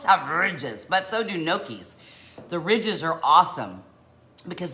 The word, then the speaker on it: gnocchi: on the pasta aisle okay let's talk about no key first of all let's ask how many of you have actually used or eaten no key no key is felt G n OC CH i it